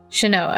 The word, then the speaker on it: Shanoa: dark hair and blue shinoah shanoa which was order of ecclesia i think is how they say it in the intro okay so i thought